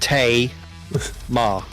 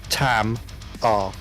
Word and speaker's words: Tamar: But when you see when you see a word spelled T A M A R Tango Alpha Mike Alpha Romeo, um, it's pronounced T ma, not Tam R.